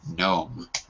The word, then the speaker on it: gnome: it's it's silent the g is silent perfect are you a foreign gnome excellent okay mr khaled